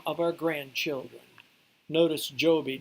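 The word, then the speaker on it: Jobi: of our grandchildren notice Joby J OB I because in the Philippines its languages from a Spanish origin and I is pronounced e so they spelled it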